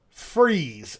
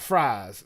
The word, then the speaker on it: Fries: We were in Fries, Virginia, not Fries. I was corrected a lot. It's spelled Fries. Oh, I thought it was fries. Nick's over grinning because he was there. It's Fries, and they was cussing at me on stage and everything.